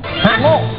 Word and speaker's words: ระโงก: คำ ว่า อะไร ระโก ระโงก ระโงก ระโงก ด้วย ครับ กด ดุ ร เรือ สระอะ ร เรือ สระอะ สระโอ งู ก ไก่ อ่าน ว่า ละโงกโงก เออ ระโมง ถึง ครับ